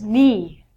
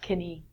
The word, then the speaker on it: knee: leg in the middle isn't me not Kenny looks like Kenny next one is a